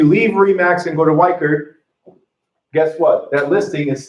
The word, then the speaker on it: Weichert: If you leave Remax and go to Weichert, guess what? That listing is still a Remax listing. Okay? Or Weisher? Yeah. Weisher, not Weichert. Sorry, I always spell it wrong.